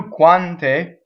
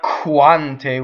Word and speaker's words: quante: a phonation right so when you do quante it's not quanta with air through it but it's from if